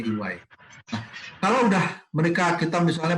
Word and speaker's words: EY: PricewaterhouseCoopers, ada Deloitte Matsu, Deloitte, kemudian ada 3 KPMG, yang keempat adalah Ernst & Young atau EY, jadi bacanya EY.